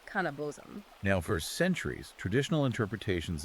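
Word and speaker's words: kaneh-bosm: And one of those ingredients is phonetically pronounced cannabos.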